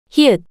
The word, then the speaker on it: 히읗: Now, try pronouncing it 5 times, following the voice. pieup, 피읕, pieup, 피읕, pieup, hieut, The name of this consonant is hieut, hieut,